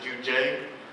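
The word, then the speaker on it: Juun.J: designer named Jun G I think you guys pronounce it you would pronounce it jun j and uh uh I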